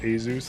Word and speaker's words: Asus: I got like an asus rog laptop I got everything plugged into it I got on Asus laptop easiest it's cut it's pronounced azuz thank you but Asus that's it that's a no from me